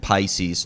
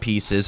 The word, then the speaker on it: Pisces: from a song like Pisces not pieces I've read those comments